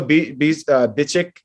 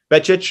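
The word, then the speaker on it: Bečić: I mean, we had Izo Bicic next to us. Becic, rather, is how you say it.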